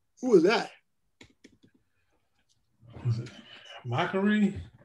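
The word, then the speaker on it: Makkari: Was it Makari? How do you say it, Cal, that one? Makari.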